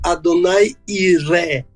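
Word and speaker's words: Adonai Yireh: ele deveria sair né Então a verdade eu deveria dizer Adonai iré Adonai iré ah em hebraico a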